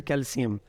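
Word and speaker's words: calcium: इनको सीन के साउंड से भी पढ़ा जाता है और असल प्रोनाउंसिएशंस यही हैं, जैसे मैग्नीशियम, पोटेशियम एंड कैल्शियम। लेकिन हमारे यहाँ एशिया में चूँकि इन्हें शीन के साउंड से पढ़ते हैं तो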